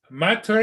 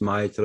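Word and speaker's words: maître: Is Matre, is that teacher? Maitre, no, Maitre, it's, oh, frick, how you say it in French? Sort of like saying Mister. Oh, okay. Yeah, Like Monsieur. yeah, it's like Monsieur, but it's Maitre or, Because he said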